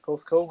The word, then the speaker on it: Porthcawl: Porthcawl, is it? Is that how you say it? That's it, Porthcawl, yeah.